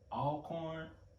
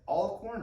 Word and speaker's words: Alcorn: jackson state and either alcorn or mississippi valley so is it is it all corn or alcorn people pronounce it both ways because i heard uh